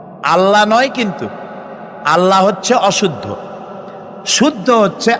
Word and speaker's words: আল্লাহ: বলেন তো আল্লাহ নয় কিন্তু আল্লাহ হচ্ছে অশুদ্ধ শুদ্ধ হচ্ছে আল্লাহ বলার সময় মুখটা গোল হয়ে যাবে বলেন তো সবাই উচ্চারণ করেন আল্লাহ আবার বলেন আল্লাহ আবার বলেন আল্লাহ সুবহানাল্লাহ কি